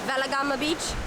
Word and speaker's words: Weligama: This is Weligama Beach, or some people pronounce it Weligama Beach.